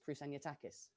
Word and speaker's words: Kroussaniotakis: is not british actually my full surname is krusanyatakis which is quite long quite difficult to say